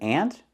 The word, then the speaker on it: aunt: sound natural say ant that's what we say in Texas ant just like the insect so this is an aunt and this is my Aunt Martha she's my aunt she's my father's sister we pronounce these two words the same example his aunt and